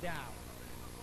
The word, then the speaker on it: Dow: ¿Doe o Down? Ok, se pronuncia Down.